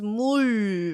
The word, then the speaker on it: 물: 물, Okay, that sounds like pool in my ears. What about you? So in your pool, there is 물, right? Pool, 물. Oh, they sound very similar.